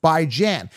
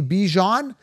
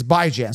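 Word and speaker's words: Bijan: as in Ran raan as in tan tan by Jan everyone's mispronouncing it as completely rude I don't see the word be do you guys see bjan where's Jean Jean is it J is it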